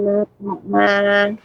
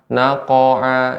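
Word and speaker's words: نَقْعًا: Ya, akan tapi jangan sampai pengucapannya jadi harokat fathah. Naqa'a, ini juga tidak benar.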